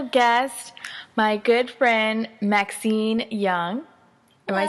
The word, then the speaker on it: Yeung: have a special guest my good friend Maxine Young am I saying it right yeah and we